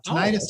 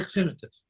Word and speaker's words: tinnitus: uh yeah you know the pronunciation is correct either way uh tinnitus or tinnitus are both absolutely um perfectly acceptable the biggest problem with